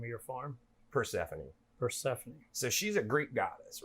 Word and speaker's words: Persephone: you say the name of your farm Persephone Persephone so she's a Greek goddess right Persephone is